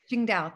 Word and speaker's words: Qingdao: After working abroad in Qingdao, did I pronounce that right? Qingdao. Qingdao, thank you.